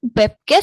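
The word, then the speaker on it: 뵙겠습니다: menggunakan chum webcas semita ini ada o i dibacanya beb ya bewem webkes nih seperti itu.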